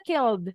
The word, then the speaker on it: killed: yang D tadi ya huruf L sama Voice jadi bacanya kalau k yang mana jadinya udah betul bacanya killed jadi Yes itu dia yang D good Kanaya akhirnya t ingat